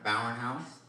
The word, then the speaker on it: Bauernhaus: open up YouTube and you search for Carolina Bowen house that's how you pronounce it by the way b jaob b